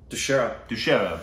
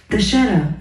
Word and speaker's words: Dussehra: It's called Dussehra, and it was on October 8th, so yesterday.